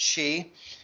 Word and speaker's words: Xi: There are numerous elements to the trip and the visit by President Xi. That's how you pronounce XI. It's like he, she, it, she, President Xi.